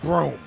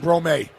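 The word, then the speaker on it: Broome: Jana Broom. Not Brome.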